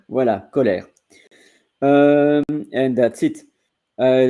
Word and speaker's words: colère: replay team later on so here are the pronunciation for Coler and you will see only from France and from Switzerland colair voila colair um and that's it I don't see any